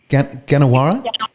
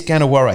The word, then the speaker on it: Gannawarra: pronounce this correctly folks get Jenna whare sorry it is gonna worry yeah I'm sometimes I